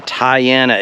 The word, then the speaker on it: Tayana: as much as he is and it's a Tiana it's a t a y a n a is how that's spelled and it's a 42 and the model